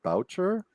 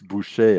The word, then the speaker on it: Boucher: His not like he would pronounce it Boucher, Boucher, but it's Boucher, and it just means a butcher.